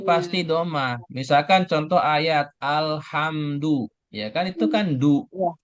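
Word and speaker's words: الْحَمْدُ: Misalkan contoh ayat alhamdu ya kan itu kan du gitu. Iya. Alhamdu harakat rahnya pasti domah du enggak mungkin alhamdi ya karena ayatnya di awal alhamdu gitu.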